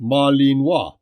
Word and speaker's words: Malinois: researched in depth was the Belgian Malinois pronounced Marlene wah the history of this